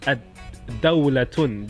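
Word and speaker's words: الدولة: An example of a letter that starts with dal is ad-dawlatun. Dawlatun means country. Dawlatun, and if I introduce the definite article is ad-dawlatu. Ad-dawlatu.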